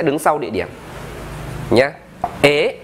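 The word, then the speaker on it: へ: Ế, ta đọc là ế nhá, ta không đọc là hế đâu.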